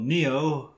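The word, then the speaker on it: Nioh: also bought PlayStation 4 game called neo it came out a couple of months ago is about the matrix not really it's spelled n io h is all that one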